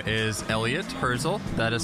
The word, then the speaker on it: Elliott Hirzel: My name is Elliott Hirzel. That is spelled Elliott on my first name, and then Hirzel on my last.